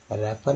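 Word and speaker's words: wrapper: और हो जाता है रैपर में डब्लू जो है साइलेंट है क्योंकि डब्लू का आ रहा है।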